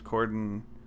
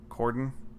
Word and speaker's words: Corden: Reaves coke commercial at James Corden Gordon Gordon no I said it right the first time that James Corden showed